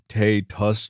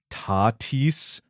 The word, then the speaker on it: Tatis: Also, you mispronounced one of the biggest stars names in an episode calling him Fernando Tay Tus Jr. when it's pronounced Tatis the feeling you're not a baseball fan like you say.